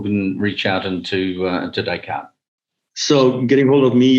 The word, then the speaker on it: Descartes: descartes dot com and it's spelled like d-e-s-c-a-r-t-s dot com like the old philosopher hey really good um vp global trade and intelligence premiere for descartes excellent to talk to